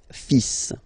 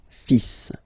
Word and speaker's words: fils: Okay, so it's le, and then even if you've got this L, well, basically you don't pronounce it, and then strangely you pronounce the final S. Le fils. Le fils. Le fils. Le fils.